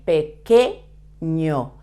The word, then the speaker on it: pequeño: sound so you say pequeño when you see when you find this okay okay in Spanish q u and E together the sound is que small bajo remember that